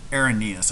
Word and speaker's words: Arrhenius: that it's um irenaeus a-r-r-h-e-n so er like pirate R then hen okay then um es IUS so uh the rainiest definition um our Airness excuse me aaronias I I pronounced it